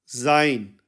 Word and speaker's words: sein: में देखा था कि मैस्क में भी हमने जाइन यूज किया था और यहां न्यूट्रल में भी